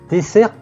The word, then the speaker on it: dessert: Donc, attention, dessert, deux S, c'est très important pour comprendre.